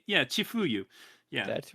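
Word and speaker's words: 千冬: How do you pronounce? Yeah, Chifuyu.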